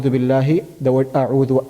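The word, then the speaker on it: أعوذ: The hamza that we have in ta'awudh, which is a'udhu billahi, the word a'udhu a, the hamza that we have there is hamzatul qata'. Hamzatul qata'. That is hamzatul qata', so it is always pronounced.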